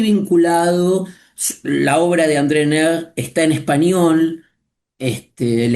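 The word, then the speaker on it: Neher: La obra de André Ner está en español.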